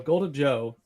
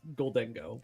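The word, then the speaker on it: Gholdengo: golden Joe um so golden Joe is by the way that's not how you pronounce it it's golden go I know I I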